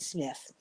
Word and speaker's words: Smythe: He'd be Smythe, S-M-Y-T-H-E. How cool. Even if he was still pronouncing it Smith, which he might have been.